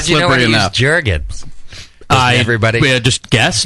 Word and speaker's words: Jergens: Jergens. Everybody just guess. It rhymes with Jerkins.